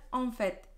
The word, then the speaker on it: en fait: Bueno, ¿cuál es la diferencia entre las dos en pronunciación? Es que tienes au fait, es una au fait, que es por cierto, y en fait, que es de hecho. En fait. Y en fait, tienes la boca más abierta, es el sonido de la A nasal.